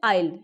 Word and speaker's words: isle: That इज the emerald आइल। ठीक है, ये तो ऐसे तो ISLE इसकी स्पेलिंग है, मगर एस यहाँ पे साइलेंट रहते हैं और इसको आइल बोलते हैं।